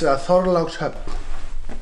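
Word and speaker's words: Þorlákshöfn: I've been trying to figure out how to pronounce it. It's Thorlákshöfn.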